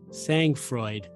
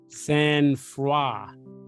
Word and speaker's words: sangfroid: Mike Tyson showed Sangfreud in his incident. Sangfreud. He showed. Oh, but it says it's pronounced Sang-froid.